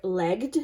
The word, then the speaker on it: legged: We also have a bunch of it throughout the four-legged or legged, depending on how you say it.